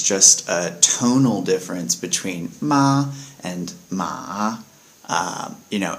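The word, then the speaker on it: 骂: sound because it's said somewhat forcefully with a down tone uh so with ma it would be said ma ma and that word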